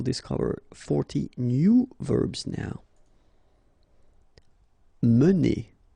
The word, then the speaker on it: mener: Mener. Okay, so remember when you get this E like that without any accent, so it should be pronounced E. Okay, so it goes like mener.